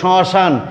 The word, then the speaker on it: শ্মশান: এবার দেখো ঠিক তেমনই শ্মশান, তালব স্বয়ের সাথে মফলা আছে, এই মটি নাসিক্য ধ্বনি, তাই চন্দ্রবিন্দু দিয়ে উচ্চারণ করতে হবে শ্মশান।